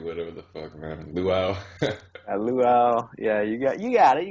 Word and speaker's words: luau: Luau. Yeah, you got it. You got the pronunciation down.